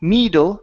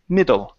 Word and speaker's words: middle: to the word middle give me a good short ey sound so instead of saying me midle me it's middle middle middle okay very